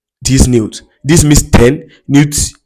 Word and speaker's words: neuf: Neuf, n e u f, which also means night.